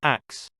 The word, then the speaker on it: ask: In medieval England, the word ask was pronounced axe.